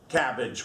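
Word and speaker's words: CABG: Cabbage, we call it in medicine.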